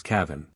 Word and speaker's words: Kevin: exceptions to this Rule St Kevin for example which they pronounce Cavin the letter O they